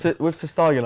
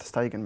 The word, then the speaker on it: Stegen: With Steigen, I feel like that. You keep pronouncing it a bit weird. I'm pretty sure it's just Stegen, mate.